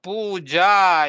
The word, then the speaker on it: puja: Instead of puja, yes, an Argentinian teacher, instead of puja, she pronounced like in Spanish alphabet, puja, puja.